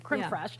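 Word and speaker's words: crème fraîche: Creme fresh. Oh, yeah. Not cream. Crim fresh and a mother of pearl spoon.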